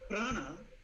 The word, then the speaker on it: prana: So the word prana is 2 syllables, P-R-A-N-A.